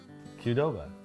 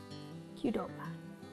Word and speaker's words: Qdoba: Qdoba. Qdoba. Say Mercury. Okay. It's my word, he makes fun of me. All right, if you're a fan of Qdoba, stay tuned for this recipe. This is a Qdoba beef taco inspired recipe.